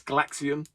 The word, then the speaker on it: Galaxian: boxed and I think Clint was struggling to pronounce this it's galaxian like Gaga that's where the name comes from